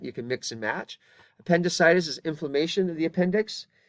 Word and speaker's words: appendicitis: I Illustrated earlier and notice the difference in pronunciation on the top word is appendicitis but it's appendectomy so the accent changes slightly between those two different words and so they